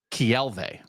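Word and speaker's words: Keawe: Okay, but so his second name is pronounced Kielve.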